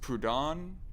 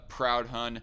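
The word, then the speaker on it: Proudhon: said prayer tom uh i think it's pronounced prodon i mean i i pronounced it for the longest time as a proud hun and i was thinking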